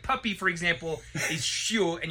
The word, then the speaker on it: chiot: All right, so like puppy, for example, is chiot, and you spelled it with a silent T because when it's a girl puppy, it's shut, right?